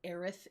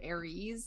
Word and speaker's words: Aerith: This is Aerith Gainsborough, also known as Eris, depending on the translation that you see. In the game that we play, it will say Eris, but Aerith is what it's actually supposed to be, and